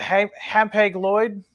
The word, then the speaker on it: Hapag-Lloyd: Is it Hapag-Lloyd? That's how I pronounce it.